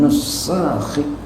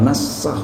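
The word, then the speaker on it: نُسَخ: fa huwa tahrifun minan nusakhi. Jangan nasakh bacanya. Kalau nasakh itu satu orang tapi tukang nasakh gitu ya. Kalau nusakh itu banyak orang.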